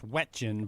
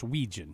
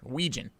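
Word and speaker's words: Wetjen: Phonetically, it's Wetin, but it's Ouijan. It Yes, he on the Iowa football website. Very nice of them. He pronounces it himself for everyone. Ouijan.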